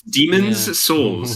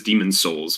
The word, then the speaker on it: Demon's Souls: I always pronounce it wrong. Yeah, it's Demon's Souls. It's very. Everyone just says Demon Souls because it rolls off the tongue.